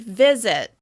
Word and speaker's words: visit: Can you hear the difference between the I sound on the first syllable and the I sound on the second syllable? Visit. Visit. Visit. As you can hear, the first syllable is stressed. The I sound is more clear and more obvious on that first syllable.